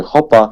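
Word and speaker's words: Hoopa: wymową czy mówi się hupa czy mówi się hopa hupa bo do koszykówki to jest obręcz tak uczy tak no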